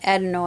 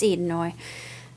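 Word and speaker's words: Edenoi: about Alpha's origin on edino or edoy I always had wanted to pronounce it edino I guess it's it's idoi and um how they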